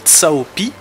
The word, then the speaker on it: Cao Pi: arrivé dans le roster, il s'appelle Cao Pi, P-I, après le C-A-O, eh bien, les Anglais, eux, l'ont prononcé, nous en français c'est Cao Pi, du coup, eh bien, eux, ils l'ont prononcé Cao Pi, qui veut dire, ben, voilà, phonétiquement, P pisse de vache, quoi.